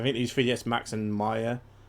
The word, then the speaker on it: Maya: these 3ds Max and Maya or mayor however you want to pronounce it I think it's Maya but yeah just how big